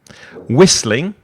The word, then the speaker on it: whistling: And then Whistling, so the H is silent, whistling.